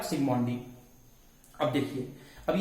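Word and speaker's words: Zsigmondy: Gold number term को सिग्मोंडी नाम के साइंटिस्ट ने दिया। जेड साइलेंट रहता है, इसीलिए जेड को प्रोनाउंस नहीं करना है। तो जेड अगर साइलेंट है तो क्या बोलेंगे आप? सिग्मोंडी।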